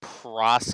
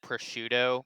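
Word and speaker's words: prosciutto: up to the counter, I pronounced it proc, and the girl corrected me and said pushuto, but she wasn't even joking. So, I was pretty upset about that.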